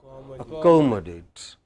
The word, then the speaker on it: accommodate: So, how would we pronounce it? Accommodate.